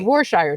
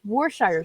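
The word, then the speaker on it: Worcestershire: that like trying to say warer shester Shire sauce it's just rhythmically it's warshire sauce this is where we agree to disagree warer sauuce wor Shire sauce no it's warshire sauce you're adding extra syllables in there all right but M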